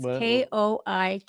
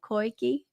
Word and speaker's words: Koike: Crikey, like the she's like crikey. like the Australian. They say crikey, Koike.